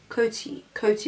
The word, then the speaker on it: Coty: I'm just going to be using the Coty S1. Coty or Cody? Coty with a T.